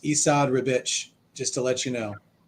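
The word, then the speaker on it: Esad Ribić: he doesn't have to apparently his name is pronounced esad ribich just to let you know Isa ribbage I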